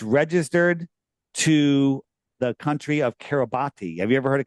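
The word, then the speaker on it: Kiribati: wide and it's registered to the country of Kabati. Have you ever heard of Kabati? It's pronounced Kabat but it's pron it's spelled Kabati.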